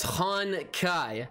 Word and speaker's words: Honkai: just looked real quick it's pronounced han kai so we got another